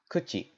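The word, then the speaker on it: 口: this simple character great in Japanese this character is pronounced kuchi and in chinese it's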